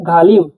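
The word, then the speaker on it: ғалым: জি এইচ এ এল আই এম বাংলায় লিখলে গালিম ঘালিম মানে পন্ডিত গালিম মানে পন্ডিত পরবর্তী শব্দে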